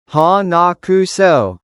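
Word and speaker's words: 鼻くそ: Hanakuso.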